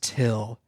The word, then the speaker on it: Thgil: But then he goes, "My name is Till. It's spelled Thgil, but it's pronounced Till."